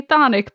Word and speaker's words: chthonic: which is spelled c-h-t-h-o the british pronounce the c-h the americans don't so i'm gonna say thonic please don't yell at